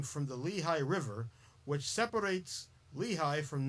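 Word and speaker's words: Lehigh: German settlers shortened the name to Lea and the English pronounce it Lehi.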